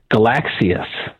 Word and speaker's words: Galaxy S: today that my phone is not a Galaxy S it's a galaxies what I think yeah the galaxies from the new Galaxy S3 that got um debuted today and that's the way they pronounce it which is cooler sound